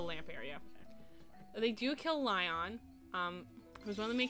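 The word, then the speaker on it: Lyon: So, Lion, who is one of... They say it's pronounced Leon.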